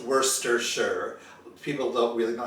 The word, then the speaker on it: Worcestershire: england and it's pronounced worcestershire people don't really know how to pronounce it because it's not pronounced how you see it spelled it's not worst or shyer it's just worcestershire it's